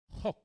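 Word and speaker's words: חֹק: In Psalm 119, verse 5, En el Salmo 119, versículo 5, we have tenemos Hok. That's how Hok. it's pronounced. Hok, like you're going to spit.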